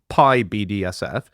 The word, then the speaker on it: PyBDSF: radio telescope imaging program called PYBDSF, pronounced PIBDSF, was the Python coded blob detector and source finder, right?